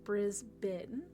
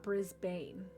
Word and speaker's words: Brisbane: Um, this is Brisbane where I spent most of my time or pronounced Brizzy. Brisbane, not Brisbane.